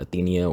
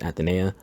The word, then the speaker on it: Aitana: It is pronounced Aitana, not Athenea or Athena. It's just Aitana.